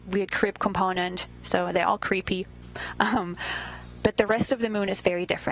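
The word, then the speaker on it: KREEP: have a weird component that we call creep and it's spelled k r e e p and Central potassium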